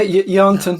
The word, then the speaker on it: Yarnton: Yeah, Yarnton, yeah, that's pretty good.